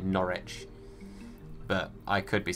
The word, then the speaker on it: Norwich: norwich or norwich well i say norwich is how i say it so i say it like you spelled it the first time n-o-r-i-c-h is how i say it norwich but i could be